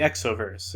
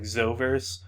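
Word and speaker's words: X-overs: i just called the x overs which is spelled like like it should be pronounced like zovers but i i always pronounce it x overs in my head because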